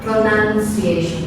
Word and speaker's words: pronunciation: Lalu berikutnya pronunciation. Ini bukan bacanya pronoun ya, bukan begitu ya. Pronunciation. Jadi ini bacanya tuh nan, bukan noun, bukan noun.